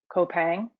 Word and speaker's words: Coupang: I'm not sure if the group have heard about Coupang. You do pronounce the C.